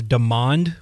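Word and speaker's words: Demond: I I think we got a prime example with I believe his the pronunciation of his first name is Demand Williams.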